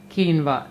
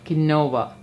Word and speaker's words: quinoa: Also note that quinoa is written as quinoa, but it is pronounced as quinoa, not quinoa.